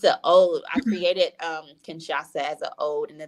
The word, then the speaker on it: Kinshasa: oh I created um Kinshasa as an old and a thank you to um culture and bloodline and history for people to have fun learning how to say it Ken shasa and that's always fun